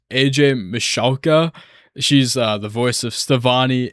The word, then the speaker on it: Michalka: I had to look up the pronunciation for this name. AJ Michalka.